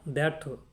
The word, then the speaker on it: দ্ব্যর্থ: দর্শক এখানেও একই নিয়ম শব্দের প্রথমে ব ফালা এবং জ ফলা যদি থাকে তাহলে সেই দ ফালা ব ফালা এবং জ ফলাার কোন প্রভাব থাকে না সেই অর্থে আমরা বলতে পারি এখানে বা দ্যর্থ দ্যর্থ তাহলে আমরা বলতে